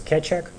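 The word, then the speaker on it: Keccak: an algorithm which was originally called cck you spell it with double C but you're supposed to read it as KCK and it became sha3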